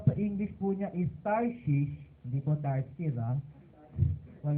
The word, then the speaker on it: Tarshish: tarsis po o sa English po niya is tarshish Hindi po tars ha Hwag niyong malapit-lapit sa